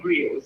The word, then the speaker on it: griot: Our storytellers were called griots. It didn't spell like how I'm pronouncing it. It's actually G-R-I-O-T, right? But yes. It's pronounced griot.